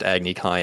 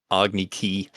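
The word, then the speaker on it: Agni Kai: thing also hated how they also mispronounced agnikai as agni ki we get it they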